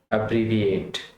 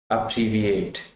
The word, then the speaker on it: abbreviate: अब्रीविएट, अब्रीविएट, first level पे जोर है, अब्रीविएट।